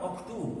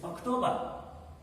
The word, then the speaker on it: October: Here it is not Octu, it's October.